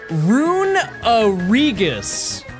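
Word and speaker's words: Runerigus: It's pronounced rungus. Where's the uh where does the uh come from? We said it's r u n e rune and then r i g us u s is the remainder of it. So we already have the rigus. Where is the uh we're pronouncing E twice.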